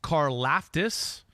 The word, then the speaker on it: Karlaftis: Yeah, number 4 edge rusher, George Karlaftis from Purdue.